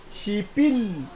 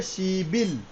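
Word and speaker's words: 십일: কিন্তু চেঞ্জ হয়ে যাবে ও কিন্তু এখানে আর শিপিল বললে বললে কিন্তু ভুল হয়ে যাবে। এটা কিন্তু আর প থাকবে না। এ উপরে চলে আসছে। উপরে বসলে কি হইতো? ব। তাহলে কি হবে? সিবিল।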